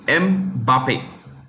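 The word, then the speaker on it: Mbappé: goals seven goals so he finished runner-up to mbappe that's how you pronounce it m Bape okay next Golden Globe or glove glove or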